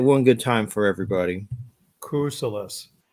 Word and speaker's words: Kousoulas: Kousoulas. Kousoulas. It's pretty easy. In school, for some reason, I do pretty good pronunciation, but I had to go through little